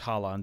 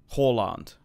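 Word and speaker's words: Haaland: against Salah and horand it's highand isn't it the problem is is I learned how to say his name before he was popular and everyone everyone used to say that I listen to would be Halland like like a Hall Holland um like English people talk about him but now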